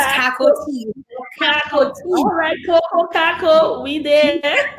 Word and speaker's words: Cacoa: girl, it's Cacoa Caco, Tea.